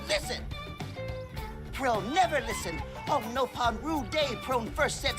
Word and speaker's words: Nopon: It's pronounced so Nopon.